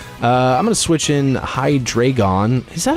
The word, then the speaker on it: Hydreigon: I'm going to switch in Hydreigon.